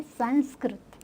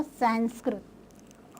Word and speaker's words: संस्कृत: करने वाला होता है, उसे बोलते हैं संस्कृत, नॉट अ संस्कृत।